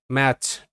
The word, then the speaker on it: match: এরকম বেসিক শব্দগুলো দেখো, যেমন MATCH, ম্যাচ, টি এর উচ্চারণ হচ্ছে না।